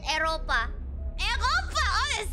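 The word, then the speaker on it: Eropa: In Indonesia, we call it Europa. Europa? Oh, it sounds like it's very erotic. Mm. Yeah. come to the erotic continent. Wait, so have you been before to Europa?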